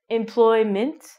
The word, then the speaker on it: employment: spell with m-e-n-t but your pronunciation is going to be m-i-n-t like mint employment next one we have